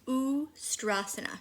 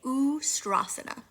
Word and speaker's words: Ustrasana: Camel pose is Ustrasana. You say Ustrasana.